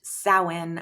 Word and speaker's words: Samhain: It is spelled Samhain, but it is pronounced Samhain.